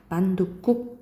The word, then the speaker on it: 만둣국: 뭐 게살구, 총무과, 만둣국, 만둣국, 그리고 허드렛일 이렇게 되겠지. 만둣국. 그래서 만둣국이니까 된 소리 나잖아요.